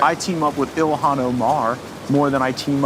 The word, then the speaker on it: Ilhan: Well, she's Yeah, you'd be surprised how often Elon Omar. Ilhan. I don't like her. Oh, is that Am I saying it wrong?